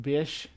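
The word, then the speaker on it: Bysshe: Google says Bice, which is pronounced Bish. Percy Bish Shelly.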